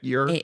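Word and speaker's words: Eure: Another thing that I could not shake is that the actor playing Will, his last name is spelled E-U-R-E. Would you spell Ure? Yeah, you're. Air?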